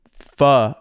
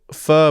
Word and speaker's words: pho: just had the best pho ever. It was fucking awesome. And respect to you for saying it right, because a lot of these people will say pho.